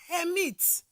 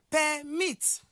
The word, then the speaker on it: permit: what as a verb if such word function as well as a noun automatically it's the first syllable that will be stressed but if such word